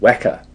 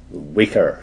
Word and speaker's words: Weka: of the word weka it's called weka we don't like calling it weaker system it's not weaker it's weka pronounced to rhyme with mecca that's the name of